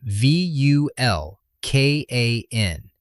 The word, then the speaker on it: Vulkan: The primarch's name is spelled v u l k a n. It's pronounced Vulkan, short u, hard k, Germanic root, the same linguistic family that gives us volcano, not Vulcan.